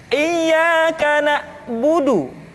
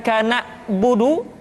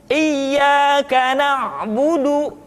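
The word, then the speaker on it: إِيَّاكَ نَعْبُدُ: Kemudian perhatikan ketika huruf Ain disukun, maka suara kita tidak boleh mati. Contoh, iyyaka na'budu, bukan kana budu, tetapi agak ditekan sedikit, kana budu, iyyaka na'budu. Itu pengucapan huruf Ain.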